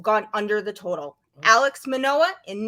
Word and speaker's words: Manoah: Because you pronounced Manoah and Cueto correctly.